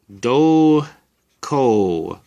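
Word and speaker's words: 瞳孔: know how to pronounce it and together they're pronounced do ko so either hitomi or dolco means pupil earlier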